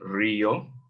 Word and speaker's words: río: So you can, the friend can say, quiero visitar al río, accent on the I in Rio, al río Duns, porque, because I want to, okay, Duns River.